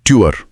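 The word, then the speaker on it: Tür: इसके लिए अपने होठों को सीटी बजाने की तरह गोल करें और उस पोजीशन से ध्वनि ई निकालने की कोशिश करें। सीटी जैसा मुंह और ई की आवाज। इससे यू की ध्वनि बनती है।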